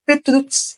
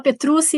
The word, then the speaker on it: Petrucci: sim não Petrucci Petr se for falar italiano é petru mas no Brasil a gente fala petruci e tá tudo bem também ai ai primeiramente Obrigada